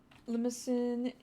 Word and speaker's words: Limousin: Limousine is Limousin versus limousine.